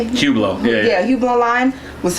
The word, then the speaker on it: Hublot: um your Hublot how do you say it Hublot yeah yeah Hublot online was fire um the